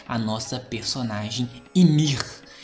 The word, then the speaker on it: Ymir: Que é o Titã fundador, o primeiro Titã de todos, que é a nossa personagem Ymir. Acredito que é assim que se pronuncia o nome dela.